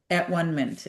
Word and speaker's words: atonement: The circle of at-one-ment. And I wanted to just tell Agnes, I do realize that this word is pronounced atonement.